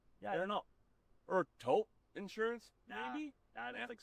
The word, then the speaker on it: Toop: Or Taupe Insurance? Maybe? I don't think so. Say it right. That's T-O-O-P. That's Taupe. Oh, it's Taupe. That's Taupe Insurance in Castleton.